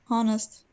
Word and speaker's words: honest: this word how does how do you say that honest honest there's no hurt so what would I